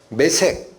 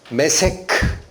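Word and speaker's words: Meshech: 메색, 여기서 뭐가 나온다? 모스크바. 메세크. 발음은 메색이 아니에요. 원음은 메세크 이렇게 돼. 히브리어가 메세크. 그러니까 모스크바가 나오는 거야.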